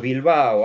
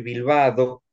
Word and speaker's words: Bilbao: ¿Qué piensan las maestras santiagueñas que dicen a Santiago, no diga que su apellido es Bilbao, hay que decir Bilbado, porque yo estoy tratando que chicos santiagueños pronuncien la D en el participio y todo eso?